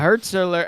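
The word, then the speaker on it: Hürzeler: Pauli manager Fabien Hurtzler. Am I saying it right? Hurtzler. Yeah, Hurtzler.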